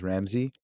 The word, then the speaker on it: Ramzey: My American pronunciation is Ramzey.